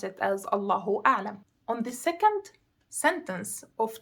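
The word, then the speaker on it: الله أعلم: God knows best, which is true, and we pronounce it as Allahu A'lam.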